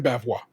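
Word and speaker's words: bavarois: be uh that that there is an r in bavwa but I never heard anybody pronounce that R until Zach Cherry did it this week but actually you know what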